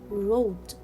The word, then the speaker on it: wrote: wrong wrong rest wrist i will not pronounce letter w because it comes before letter r so here i will see wrong i will read it rest i will read here right and wrote so in all these